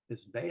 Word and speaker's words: Bea: we adopted from Russia, Bea. Her name is Bea, and she loves her name. She fights for people to pronounce it correctly, because when you write it out, people are inevitably calling her B.